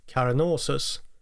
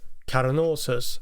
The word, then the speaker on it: Carnosus: Oh, and by the way, I'm aware that I pronounced the Latin word like Carnosus, but the band's name more like Carnosus, which is clearly a more English sounding pronunciation.